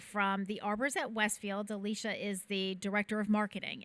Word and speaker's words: Alicia: Do you pronounce it Alicia or Alicia?